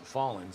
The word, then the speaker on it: Fallen: We got Jack Fallen in the chat letting us know it is pronounced Fallen.